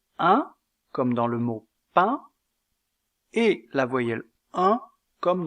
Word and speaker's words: pain: mot brun la voyelle 1 comme dans le mot pain est une voyelle mi ouverte antérieure est nasale mais elle est étirée tandis que la voyelle 1 du mot brun est arrondi donc la prononciation diffère au niveau de la labialité un de pain est étiré un de brun est